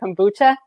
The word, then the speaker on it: kombucha: i know i'm gonna say it wrong but kombucha oh yeah you said it right okay good